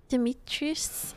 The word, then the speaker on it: Dimitrescu: a door over here the u at the mid dimitrius is silent i didn't know that